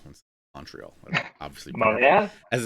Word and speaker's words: Montreal: In Montreal.